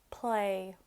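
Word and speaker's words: plé: e play he fidh a little hint to tell how many syllables i don't know it's probably something people already know how many times your chin drops when you say it so play it just drop once cree knee drop twice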